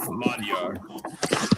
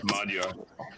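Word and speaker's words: Magyar: than one language Hungarian the language itself madar that's how they say it in Hungary madar uh it's not It's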